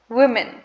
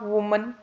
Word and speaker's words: women: do you pronounce it the correct pronunciation of the word is women women it's not woman it's women okay singular is woman but um plural is women so um for example